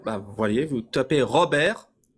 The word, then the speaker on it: Robert: vous voyez vous tapez Robert Robert comme ça se prononce avec un T à la fin Robert r o B